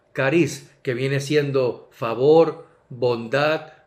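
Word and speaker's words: χάρις: se expresa jese y en el griego también se expresa se pronuncia cariz que viene siendo favor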